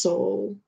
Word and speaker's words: Sowell: Yeah, Oh, I said Thomas Sowell, but I didn't know it's pronounced Soul.